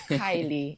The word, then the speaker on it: Kylie: I hope I've gotten the Kylie or the You just said it right. It's Kylie.